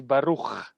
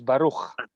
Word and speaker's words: Baruch: So the way you pronounce my name is Baruch. It's similar to Barak, but it's actually with the ch at the end. So it's Baruch.